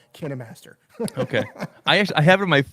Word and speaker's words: KineMaster: how it's pronounced yeah it's pronounced kinemaster you see this right here yeah so the guy yeah so he yeah it's kinemaster it's official i actually i actually have them at the kinemaster booth on video in one of my kinemaster videos i said okay let's lay this to rest how do you pronounce it and he was like i work for a company called can a master okay i actually i